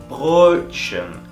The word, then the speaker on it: Brötchen: decir la letra O, y dices una E a la vez, y te va a salir este sonido. Schön, das Brötchen, schön, bonito, guapo, das Brötchen, el panecillo es bonito, das Brötchen ist schön.